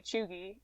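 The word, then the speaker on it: cheugy: is something that is out of date okay chugi something that is out of date or a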